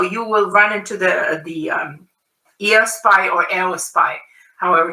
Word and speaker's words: Eos: want to pronounce it, because Eos would be the correct Greek pronunciation, but because that word has been used in the English language also, so a lot of people are used to saying Eos, so that's okay, but it's Eos pie.